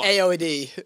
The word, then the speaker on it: A0HD: Is it A0HD? That's how it's spelled, but it's AOD.